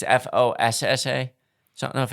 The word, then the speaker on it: fossa: Fossa is how it's pronounced, as far as I've seen on nature documentaries and everything like that. Okay. Like I said, white people Right. pronounce it Fossa. Okay. Like it's very different when you listen to some native Madagascarians talking about them. Okay. I can't do it. It's just not a word I could pronounce. Okay. Like I said, it's Foosh. Yeah. Is how they pronounce it.